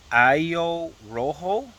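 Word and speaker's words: ajo rojo: it's called I think it would be pronounced Ayo Rojo um Spanish obviously a j o r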